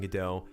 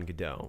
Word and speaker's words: Godot: play called waiting on godot which is a french play and how you pronounce godot in the play is how i'm saying it so it's not go dot anyone that says godot